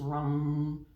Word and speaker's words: Ram: want to use is rum rum it's spelled like Ram so ROM the element obviously is